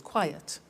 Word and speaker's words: quiet: ok let's look at another example quiet listen to that quite yet two syllables quiet another one safe is